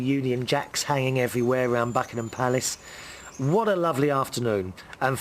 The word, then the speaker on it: Buckingham Palace: I know how you say it in America. Buckingham Palace. We say it Buckingham Palace.